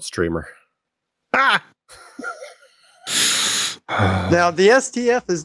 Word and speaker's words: GStreamer: I think the G is silent in GStreamer. It's just called Streamer.